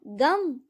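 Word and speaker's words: गं: गण के प्रथम शब्दांश ग का उच्चारण करने के बाद वर्णों के आदि अर्थात अ उच्चारण करें। उसके बाद अनुसार अर्थात म का उच्चारण करें। इसके बाद इसे अर्धचंद्र से सुशोभित करें।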